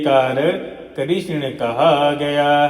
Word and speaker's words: कृष्ण: यह संपूर्ण भगवान श्री कृष्ण का नाम है इसीलिए भक्तों शुद्ध उच्चारण है कृष्ण है कृष्णा नहीं कृष्ण है क री ष ण अकार विसर्ग करण है यह नामकरण वाले